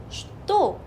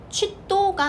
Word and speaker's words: что: 러시아 책에서 왜 취도가 아니라 슈도인가요? 이걸 찾아봤더니 무려 14세기 위로 올라가더라고요. 왜 이 발음이 이렇게 되었는지에 대해서는 14세기로 올라가야 돼요.